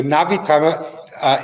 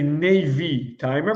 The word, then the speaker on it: Navitimer: Americans say Navy timer, but there's no Y in there. There's an I. Navi timer. It was always the Navi timer.